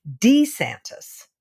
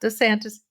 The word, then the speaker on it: DeSantis: call him DeSantis apparently he has gone back to the original pronunciation of his name which is D santis not DeSantis D santis yeah well